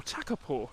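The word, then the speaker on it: Takapō: Lake T teur or takur as it should have been called but it was mispronounced when the town was being written up in the history books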